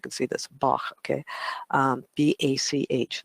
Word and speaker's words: Bach: There's also a question about how his name is pronounced, because for a while there, some people were saying Batch, some people say Bach. They say it like there's a composer, I think, Bach, composer of music, and I think it's pronounced the same way for most people around the world.